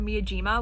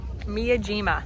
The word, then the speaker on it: Miyajima: our amazing bagels we decided to go to Miyajima which is an island that has the floating